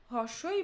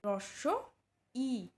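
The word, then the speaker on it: হ্রস্ব ই: দেখে নেব চলো এই এটিকে আমরা হস্বই বা হস্ এরকম বলে থাকি কিন্তু এটি শুদ্ধ উচ্চারণ হবে রস ই নেক্সট এটি দীর্ঘ ই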